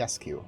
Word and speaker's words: Iliescu: Basilica Because he- Iliescu.